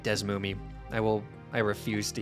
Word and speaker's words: DeSmuME: real pronunciation is how do you say desmumi i say it like des moomie i will i refuse